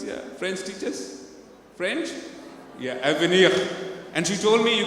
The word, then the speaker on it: avenir: and I asked her, can you help me pronounce this word? And she told me AVENIR. And I did practice a bit, AVENIR. Any French teachers in the audience? Yeah, French teachers? French? Yeah, AVENIR.